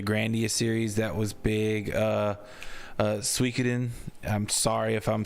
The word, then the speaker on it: Suikoden: But like, it's pronounced Suikoden. Suikoden.